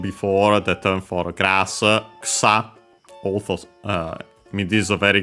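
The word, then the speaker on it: 草: We have mentioned before the term for grass, ksa. Also, this is a very game because of the grass type moves. Ksa, accent on the last mora. The first one is the U is barely heard if at also.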